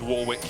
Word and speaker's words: Warwick: That's what I do with Warwick even though it should be Warick.